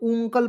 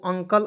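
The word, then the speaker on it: uncle: को देखिएगा और देखिए यू एन सी एल ई बहुत लोग ंकल पढ़ लेता है नहीं यू को इसमें जो है आपको अ के रूप में उच्चारण करेंगे ठीक है तो यू एन तो अंग सी एल ई को कल तो इसे पढ़ेंगे दोस्तों अंकल अंकल मींस क्या होता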